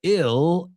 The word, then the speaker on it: ill: Ill rhymes with fill.